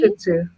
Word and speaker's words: Shih Tzu: Where do you no T or yes T in there? Shih Tzu. No T. Shih Tzu.